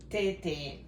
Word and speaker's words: tete: Tete. Yep. With the accent on the E.